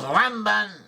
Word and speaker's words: Ramban: Nachmanides, also known as Ramban, should not confuse him with Rambam with an M. Rambam is Maimonides, and Ramban with an N is Nachmanides.